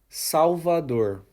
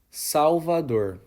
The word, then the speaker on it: Salvador: The correct pronunciation is Salvador. Once again, Salvador.